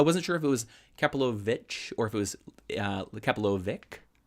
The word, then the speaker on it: Kapilovich: I wasn't sure if it was Kapilovich or if it was Kapilovic. Yeah, So there was one. you got it. Yeah, but Well Kapilovich, done. for everybody's watching, if you're wanting to know how to pronounce Kapilovich and Associates, that's how you do